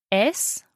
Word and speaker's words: syster: So it's like the Y of Ystad that we were talking about Yes.